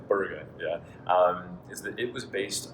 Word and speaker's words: Borg: original RPE scale that Borg developed, I'm pronouncing it like an American, is actually Berger.